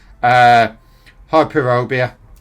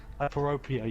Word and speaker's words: Hyperopia: Hyperobia, or whatever. I can never pronounce that word. That's a weird one. Basically, hyperobia. That's it, hyperobia. Hyperopia, yeah.